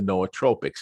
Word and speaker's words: nootropic: out so that was the idea behind the noatropics and for those who are not familiar with